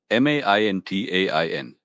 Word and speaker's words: maintain: M A I N T A I N. pronounced maintain. Again, the stress is on the first syllable.